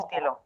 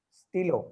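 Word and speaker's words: stylo: the stilo. The stilo. On the stilo. Stilo, not stilo. Stilo. Say stilo.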